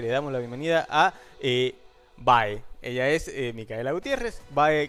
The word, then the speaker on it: BHAE: Pero bueno, quedó Bae porque somos de San Juan y lo decimos como claro. se escribe.